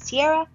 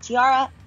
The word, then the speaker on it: Tiara: It is Tiara, not Tiara, and I'm going to insert the correct pronunciation of your name every single time before I mispronunciate it. So sorry. It's Tiara, like the crown, because she's a queen.